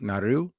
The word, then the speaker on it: Naru: as Naru or they say it's actually properly pronounced like n nardu Naru Naru but Naru but um and and that